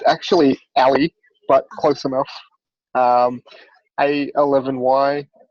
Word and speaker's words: A11y: Christina: Did I pronounce A11y right there, its spelt a bit oddly isn't it? Adem: it's actually "alley", but close enough, enough a11y, the 11 being